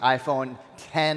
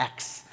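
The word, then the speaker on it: iPhone X: Big news last week, the iPhone 10 launch. So it's interesting, there was an article that came out that said people are mispronouncing 10 because they look at the X, they call it the X.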